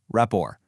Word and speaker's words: rapport: That T at the end is totally silent. It's pronounced rapport.